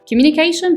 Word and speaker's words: communication: نص الكلام بنقولها for communication بمعنى الاتصال. ونطقنا كلمة communication ركزنا على الجزء اللي هو قبل المقطع الأخير اللي هو TION، ركزنا على CA اللي هو communication. COM اتنطقت مش communication، لا اتنطقت communication.